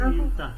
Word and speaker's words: إمتى: How do we say when? إمتى. Okay, إمتى. In Syrian it's إمتى.